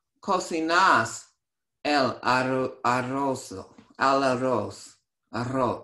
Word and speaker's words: arroz: Arroz. You have to roll the R, so arroz. Arroz. Arroz. Sí, cocino el arroz.